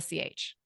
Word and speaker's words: Charis: It's spelled and pronounced like the city Paris to help everyone understand, but with a Charis.